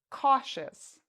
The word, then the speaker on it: cautious: pronounce it as chess what about the next word cautious cautious do you hear e us or do you hear chess cautious the answer is again the second we pronounce the i o u s like shus all right let's look